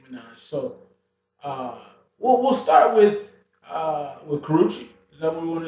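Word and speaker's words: Karrueche: And so the four ladies we chose to kind of profile or to discuss are Karuchi Tran. Is that how you say it? Yep, Karuchi.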